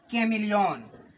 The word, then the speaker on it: chameleon: अब फिर सोच रहे हो कि च बोले कि क बोले कि क्या बोले, तो यहाँ पे बच्चों क उच्चारण करना है। और ये लिखा है कैमिलियन, क्या लिखा है?